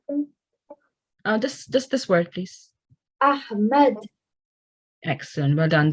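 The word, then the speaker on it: أحمد: Ahmad. Excellent. Well done. The ha, again, is from the middle of your throat.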